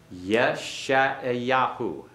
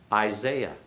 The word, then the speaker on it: Yeshayahu: Yeshayahu. Yeshayahu. Isaiah. Isaiah. You see that our English pronunciations are based upon normally words that were